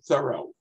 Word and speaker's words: Thoreau: as a side note the family pronounced it thorough but since so many people seem to feel the throw is better we're going to stick with throw for today so with